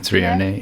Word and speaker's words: threonate: And I was taking the magnesium threonate. No, how do you pronounce that? John, have I pronounced it correctly? Magnesium threonate. Yeah. Yeah, that's fine.